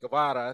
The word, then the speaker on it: Guevara: Correcting me, Guevara.